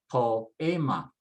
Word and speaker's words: poema: For example, in the word poema, poem, you can see the O and the E. I've separated them apart so that they become 2 separate syllables. And then following the usual stress rules, I would stress next to the last. And so I say poema.